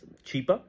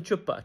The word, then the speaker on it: Chapa: got involved a humanitarian his name is Chapa Mr Chapa and she starts pronounce she she starts mispronouncing she calls him chipa chipa and yeah chipa is